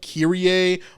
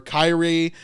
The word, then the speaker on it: Kyrie: When he says Lord, he's saying the Greek word, I think it's pronounced like Kyrie or Kyrie.